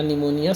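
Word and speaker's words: pneumonia: neutralise न्यूमोनिया न्यूमोनिया successfully य पी से है ना इसको पी साइलेंट होता है तो याद रखना निमोनिया सक्सेसफुली वाज लच इन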